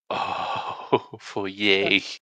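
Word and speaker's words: foyer: all come into the foer it's again nice furniture just old give a some some logs smoldering in the fireplace it's pronounced for for yay do you say panding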